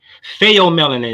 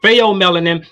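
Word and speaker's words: pheomelanin: melanin is a default or or effective gene fail melanin is spelled p-h-e-o you can look it up eu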